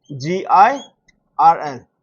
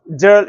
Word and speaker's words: girl: Example g i r l. What is this pronounced as? It is not pronounced as jal, it is pronounced as girl.